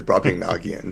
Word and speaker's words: Brobdingnagian: you know but but the way we've always pronounced it is bring nagan so uh well I guess we can defer